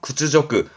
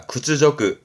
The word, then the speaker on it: 屈辱: 구츠저크, 음으로는 조금이다. 구츠저크, 구츠저크.